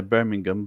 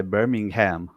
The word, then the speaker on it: Birmingham: And so like for example, in England, what I said Birmingham, right? We would say Birmingham, but in America, you would say Birmingham.